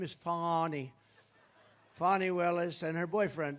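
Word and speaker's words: Fani: right has anybody fonnie it's pronounced fonnie F ni I that's Fanny but she likes it funny when she became the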